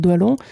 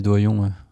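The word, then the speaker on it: Doillon: dit aussi concernant Jacques doilon Doyon Doyon je l'ai mal prononcé j'ai toujours dit doilon non parce que il me semble qu'on dit Doyon avec les deux ailes bah va pour Doyon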